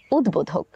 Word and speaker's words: উদ্বোধক: সঙ্গে ব যুক্ত হয়েছে দ এর সঙ্গে ব যুক্ত থাকার কারণে আমরা ব এর উচ্চারণটি করব উচ্চারণটি হবে উদ্বোধক চলুন এই নিয়মের কিছু উদাহরণ দেখে নেই যেমন উদ্বোধক দিক-বিদিক সাব্বাস এবং গম্বুজ